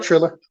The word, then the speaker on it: Triller: Yep, Triller.